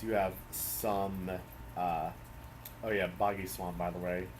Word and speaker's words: Boggy Swamp: have some, oh yeah, Boggy Swamp, by the way. I remember as a kid I used to pronounce it Bogey Swamp.